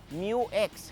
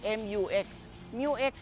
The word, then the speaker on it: mu-X: ako na take note ang pronounce station ng sasakyan na to Isuzu MU X hindi mu mux parang Yung paborito nating